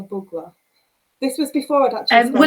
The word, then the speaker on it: Bugler: behind your name now i called you sheila bugler for the first few months when we met and then i realized to my horror that that wasn't the correct pronunciation in your sheila bugla this was before i'd